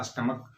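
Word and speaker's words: stomach: करके बताया था कि जब सी एच का उच्चारण चो नहीं बल्कि क्या हो को हो तो उसमें हम सिर्फ एस जोरक ही पल बनाते हैं जैसे एग्जांपल हमने क्या लिया था स्टमक मोनार्क इसमें सीच का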